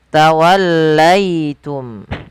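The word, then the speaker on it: تَوَلَّيْتُمْ: Kemudian tawallaitum pada lafal ya sukun yang didahului dengan fathah. Maka ini kita namakan dengan bacaan lin yaitu bacaan yang lembut di dalam melafalkan hurufanya.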